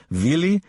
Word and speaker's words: Willy: At her side, the amusing Willy, W, pronounced V, Kappler, the silliest-looking man, a